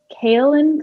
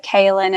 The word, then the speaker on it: kaolin: a little bit of kale and clay did i say that properly i think that's how you say it i mean kaolin clay that's how we say it great that's totally it